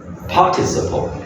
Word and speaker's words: participle: They are past participle. Okay, yeah, very good. Remember this past participle. Participle. Okay, yeah, the stress over there.